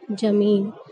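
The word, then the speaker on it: ज़मीन: दे रही है ना, लेकिन जब आप इसे उच्चारण करते हैं जमीन करके, तो जमीन तो गलत शब्द हो जाता है, इसका गलत उच्चारण होगा जमीन, जमीन, तो इसका सही उच्चारण क्या होगा, यानी इसे जब हम सही तरीके से बोलेंगे तो वो शब्द क्या होगा, जमीन, ना कि जमीन।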